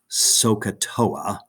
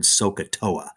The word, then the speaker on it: SOHCAHTOA: string all those letters together without the dashes s-o-h-c-a-h-t-o-a and that word is generally pronounced sohcahtoa okay and everybody remembers how to say it